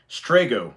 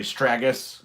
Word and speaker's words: Strago: And so this person was like, oh, it's pronounced, okay, Strago, by the way. This is all stuff I already knew, try harder. And I put Strago, actually Stragus, but in the US we got Strago.